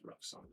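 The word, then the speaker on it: Ruksana: like five times nice no it's roxanna i promise that's the way it's spelled it's r-u-k-s-a-n-a all right yo thank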